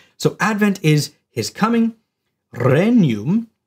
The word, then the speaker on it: regnum: Advent is his coming renum it's not pronounced regnum it's reum is the reign of